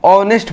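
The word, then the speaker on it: honest: H है और उसका उच्चारण नहीं होता, लेकिन हम H को नहीं पढ़ते, हम ऑनेस्ट पढ़ते हैं।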